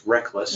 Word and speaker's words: Reklis: First of all, that last name is correct. It's Reklis. Reklis. It's not quite spelled the same way that it sounds, but it's been a